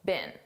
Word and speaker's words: been: Now notice I said been a very unstressed been. This is how we pronounce the past participle of the verb be been in American English. I don't speak British English, but I believe in British English, they pronounce it more stressed, been. But in American English, we don't do that. We just say been.